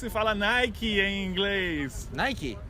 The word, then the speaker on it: Nike: Então no Brasil a gente fala Nike. Nike. Só que não é Nike. É? Nike. Tem que pronunciar Just do esse sonzinho no final.